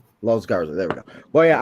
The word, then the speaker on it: Los Garza: Is it Los Garza? Los Garza.